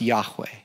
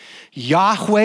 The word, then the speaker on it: Yahweh: Some people think it would be pronounced Yahweh.